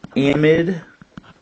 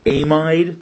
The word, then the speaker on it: amide: An amide, or amide, depends on how you want to pronounce it. I pronounce them amides, is a carbonyl with a nitrogen.